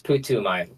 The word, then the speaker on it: Putumayo: This one is the big one. It's Putumayo. Putumayo. Okay. Yes. Yeah. That's a big pronunciation thing that I want to nip before it gets too far.